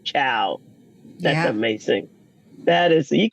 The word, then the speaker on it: Chiao: So I thought it was ironic that I'm performing a wedding next year in Italy, and Patty's last name is pronounced Chiao.